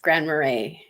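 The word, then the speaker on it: Grand Marais: trying to pronounce it and it's Grand marray yeah yep like the the the liquor yeah y the the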